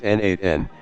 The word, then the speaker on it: n8n: n8n is pronounced as n8n, and it stands for Nodemation, meaning automation using nodes.